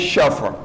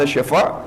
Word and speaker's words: شفع: صرف حرف اور صرف کلمہ تبدیل ہو گیا ہے نماز شف, جس کو ہمارے بعض بزرگان بعض عزیزاں جو کہہ رہے ہیں نماز شفع, جو عربی میں اس کا تلفظ ہے وہ نماز شفع.